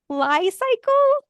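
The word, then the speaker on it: Li-Cycle: did find one company I'm gonna say it's pronounced Li cycle it's Li hypen cycle I don't know it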